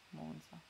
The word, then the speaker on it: Monza: sono di monza e tutti lo dicono con la z sorda ok monza monza monza monza monza